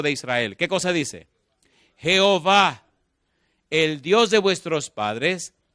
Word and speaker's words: Jehová: del nombre Jehová realidad Cuando el nombre de Dios se escribe no hay manera de pronunciarlo porque son cuatro consonantes J hw los masoretas le pusieron las vocales de la palabra adonay que significa señor y conformaron entonces e o a que es Jehová O a e que